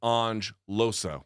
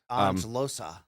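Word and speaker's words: Loosa: By the way, the pronunciation is Ange Losa. We got that wrong. I got that wrong. We got it wrong on Friday. Ange Losa.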